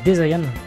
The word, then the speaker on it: Desian: Je me suis remis aux deux, et dedans, Desian, il le prononce Desayan. Desayan.